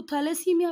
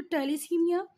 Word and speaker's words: थैलेसीमिया: कुछ लोग इसको थैलेसीमिया भी बोलेंगे, बट गूगल पे आप लोग प्रोनाउंसिएशन देखेंगे तो टेलीसीमिया, haemophilia, these both are genetic disease.